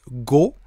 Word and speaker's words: 語: Et quand vous rajoutez ce petit kanji là que l'on prononce go, dans ce cas-là, eh bien ça veut dire le corbeau.